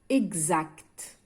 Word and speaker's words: exact: La lettre X se prononce GZ. Lorsque le préfixe EX est suivi d'une voyelle cette fois-ci. Donc, le préfixe تاعنا عندما يتبع une voyelle. مثال exact. Exact. A, c'est une voyelle. Donc, le préfixe est suivi d'une voyelle, on entend GZ.